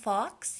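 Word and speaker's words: Fawkes: but just in case I believe he's pronounced Fox he is the Phoenix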